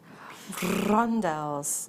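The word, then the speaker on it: rondelles: next up we've got you have to roll your R when you say this one RS that like that yeah exactly like that rondels it's nice having a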